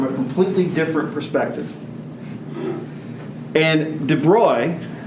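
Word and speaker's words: de Broglie: completely different perspective and de bruy that's how you pronounce that he looked at the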